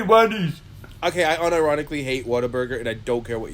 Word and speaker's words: Whataburger: also before that moment i thought it was water burger burger because people that's how people pronounce it whataburger whataburger that sounds awful